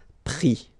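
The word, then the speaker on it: pris: And then prendre, so e-n-d-r-e will give es, prix, okay. Same thing here, you don't pronounce the final s, okay.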